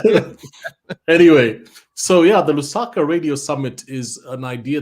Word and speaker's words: Lusaka: and it's Lusaka.